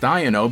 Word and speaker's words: Iono: So in English it should be pronounced Iono because it's supposed to sound like I don't know.